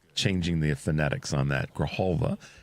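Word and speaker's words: Grijalva: Um, Representative Grahalva from Arizona. I've been changing the aphonetics on that. Grahalva is the corre correct pronunciation.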